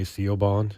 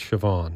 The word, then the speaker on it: Siobhan: is named to everybody s i o b h a people say Coban is Siobhan right well I I've I've seen